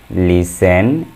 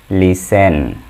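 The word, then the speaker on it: listen: এ নম্বরে দেখো, look, লিসেন অ্যান্ড সে। LOOK, look. Look অর্থ তাকাও। LIS, লিস। TEN, টেন, লিসেন। এখানে টি এর উচ্চারণ হবে না, টি এর উচ্চারণ গোপন থাকবে।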